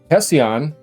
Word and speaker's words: Hession: For context, Hession, that's how you say it, consultant AI is said to help games, technology, and other departments integrate AI workflows for more efficient development.